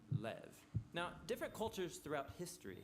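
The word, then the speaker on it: לב: pronounced or more often in a shorter form Lev now different cultures throughout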